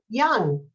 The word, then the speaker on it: Jung: Next up, for your introduction, Jung. Thank you, Cynthia, and thank you, Columbia Democratic Club. And my name is Jung. That J is pronounced like a Y.